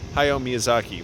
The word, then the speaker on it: Hayao Miyazaki: I almost said his name wrong. Hayao Miyazaki, which everybody loves him now, and thank goodness he's still around.